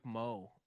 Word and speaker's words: Moh: So it's got Mike Moh. I think that's how you say his name. M-O-H. Mo.